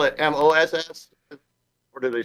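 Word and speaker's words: Maus: did they spell it m-o-s-s or do they no it's just one s like german style and m-a-u-s moss yeah it's just one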